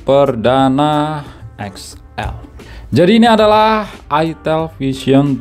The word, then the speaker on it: itel: Di sini ada angka gede 3, Vision plus itel, bacanya itel ya, bukan apa tuh.